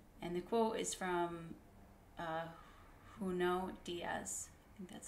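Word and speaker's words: Junot Díaz: saw the world and the quote is from who know Diaz and that's how you say his name he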